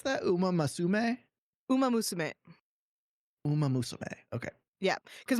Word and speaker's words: Uma Musume: How do I pronounce that? Uma Musume? Uma Musume.